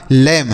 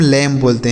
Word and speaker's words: lamb: लैम, लैम का अर्थ होता है मेमना। क्या होता है सर, मेमना। जैसे जो बकरी का बच्चा होता है ना उसे हम लैम बोलते हैं, लैम्ब नहीं लैम बोलेंगे।